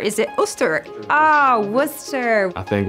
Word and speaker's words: Worcester: to the city i didn't know how to pronounce booster so i was like is it orchestra is it us ah worcester i think worcester is a city on the rise for sure